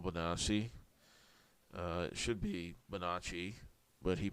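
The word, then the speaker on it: Bonacci: Uh it should be Manacci, but he pronounced it Manasi.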